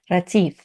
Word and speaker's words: Retief: Ratif. Hi, how are you? Good, thanks. And you? That was a great pronunciation.